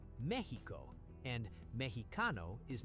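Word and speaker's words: México: English speakers say Mexico. Wrong. In Spanish, the X in Mexico makes an H sound. Say Mexico. Mexico.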